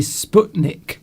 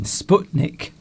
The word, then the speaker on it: Sputnik: It should be Sputnik. Sputnik. Thank you. Yes. As in butcher.